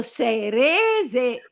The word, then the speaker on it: serese: Quindi sulla prima e no io non ho detto sere, ho detto serese. S se, quindi una e se dove se re. Bravo. Sulla sulla seconda. La seconda e. E che accento è? Aperto o chiuso? Eh, un accento chiuso.